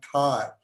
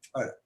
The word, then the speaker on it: Thar: reach for thar, but the way we read thar has become thar. But interestingly, I discovered recently that in Pakistan, when they talk about their part of the desert, they spell it thull, which is thar as well. So actually, it's not important, but the correct pronunciation of thar is actually thar.